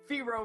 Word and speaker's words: Fearo: And then I was like, Fearo rhymes with hero.